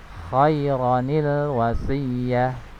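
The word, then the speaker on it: خَيْرًا الْوَصِيَّةُ: Sehingga dibacanya adalah khairanil wasiyah, khairanil wasiyah ya. Ro-nya dibaca pendek, tidak dibaca panjang. Khairanil wasiyah. Ini salah ya. Ro-nya dibaca pendek ya.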